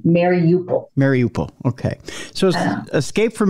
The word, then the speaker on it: Mariupol: I call it Mariupol. Mariupol, I'm sorry. Yes. Yeah, well, that's okay, because I wondered the same thing about the pronunciation at the start of the war in February. Every news broadcaster was pronouncing it differently. Mm-hmm. So I went with Lester Holt's version, Mariupol.